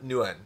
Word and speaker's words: Nguyen: If you really want to do it, it's Tuam Nguyen."